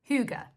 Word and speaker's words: hygge: Hygge, that's how you pronounce it.